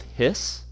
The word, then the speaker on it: His: called the bundle of His okay so you pronounce it his like a snake his um and this is